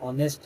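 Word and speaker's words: honest: तो ही is dash a मैन, यहाँ ऑनेस्ट है। ऑनेस्ट में वॉवेल नहीं है, लेकिन इसका उच्चारण ओ हो रहा है, ओ हो रहा है।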